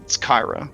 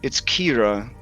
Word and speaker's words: Kira: she's like, well, it's Kyra, but And then Vallus kind of like cocks her head and she's like, "Are you doing this again? It's Kira. That's how it's pronounced. That's the name.